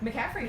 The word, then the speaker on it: McCaffrey: do you say your bathrooms in McCaffrey right McCaffrey very easy right but its McCaffrey Randall Randall